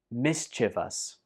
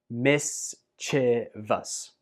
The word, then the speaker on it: mischievous: I have heard this word pronounced as mischievous, which I think is also okay, but the dictionaries say that this word is pronounced mischievous, and also I say it that way too.